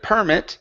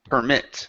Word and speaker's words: permit: Instead of permit, it's permit. Stress at the end.